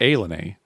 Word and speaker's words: ilani: It's when you see it written, it looks like Illini, right? It's Ilani, but it's pronounced Illini.